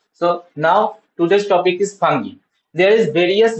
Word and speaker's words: fungi: So today is the new chapter, new part, new class about fungi.